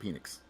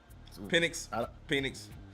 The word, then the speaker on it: Penix: I believe B. James pronounced his name Penix. Penix.